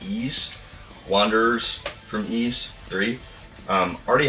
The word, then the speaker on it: Ys: think it'd be likewise three but it's apparently pronounced eise wanders from east three already have this on